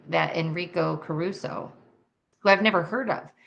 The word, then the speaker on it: Enrico Caruso: And the answer is Enrico Caruso.